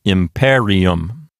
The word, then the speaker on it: imperium: Therefore, the accent will jump over to the left one notch to the antepenult. That's the PE. Syllable. So this word will sound like imperium.